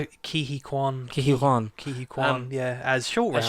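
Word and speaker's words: Ke Quan: Ki Kwan.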